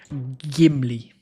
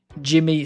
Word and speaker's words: Gimli: It is a hard G. Gimli. Jimmy, son of Gloin.